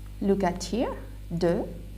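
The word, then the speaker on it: deux: So 1, 2, look at here, 2, X is silent.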